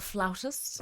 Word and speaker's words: flautist: Actually, in American vernacular, it's flutist. In English vernacular, it's flautist.